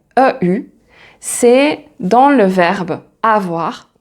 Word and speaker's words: eu: Ensuite, la troisième façon de prononcer EU, c'est dans le verbe avoir quand il est conjugué au passé composé. Donc, c'est le participe passé du verbe avoir. Et là, on va dire il a eu, ou elle a eu, j'ai eu, tu as